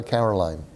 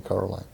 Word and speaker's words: Coraline: her name wrong and they all call her caroline and nobody notices that it's actually coraline thank you guys those